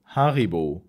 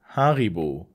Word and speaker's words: Haribo: didn't like harryville as a kid or adult haribu is a German brand and you can pronounce it as Haribo Haribo um Haribo is a German candy brand headquartered